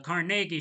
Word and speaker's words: Carnegie: And during an 1892 strike by the Amalgamated Association of Iron and Steel Workers, the Carnegie Steel Company, excuse me, no, the CargI Steel Company, that's how it's properly pronounced, Carnegi, paid some 300 Pinkertons to act as security at its mail in Homestead, Pennsylvania.